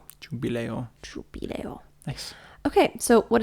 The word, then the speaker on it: Giubileo: Yeah, Giubileo. Jubileo.